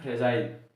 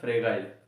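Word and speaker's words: fragile: उसे कहते हैं फ्रेजाइल या फ्रेगाइल। इसका प्रोनाउंसिएशन दोनों है, फ्रेजाइल भी कह सकते हैं इसको और फ्रेगाइल भी कह सकते हैं, और हिंदी में इसको कहेंगे भंगूर, ठीक है।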